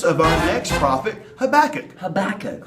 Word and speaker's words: Habakkuk: Habakkuk, whose name rhymes with cook. Cook, Habakkuk. Right, that's good, okay.